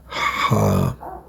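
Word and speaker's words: ح: Today we're gonna talk about the letter number 6 in Arabic, letter Ha. Ha. This is how you pronounce it.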